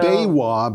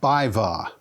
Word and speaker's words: BayWa: So, Baywa, by the way, is pronounced Bivva. Bivva.